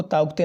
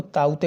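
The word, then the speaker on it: Tauktae: उसके बाद अगला अभी जो आया है रिसेंटली ताउते, ये बहुत न्यूज में है, ये वाला ताउते, इसको ताउते नहीं पढ़ते, इसको ताउते पढ़ते, के साइलेंट है इसमें।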